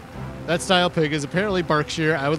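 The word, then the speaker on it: Berkshire: with rexus uh yeah so apparently you don't pronounce this word birkshire this is a bark shear wait wait wait wait now I got to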